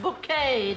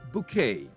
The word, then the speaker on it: Bucket: Pronounced bouquet, dear. Or should I say, Mrs. Bouquet, in her effort to try to keep up appearances. Yes, that hilarious Miss Bucket. It's bouquet.